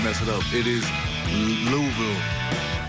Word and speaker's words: Louisville: It is Louisville. Louisville.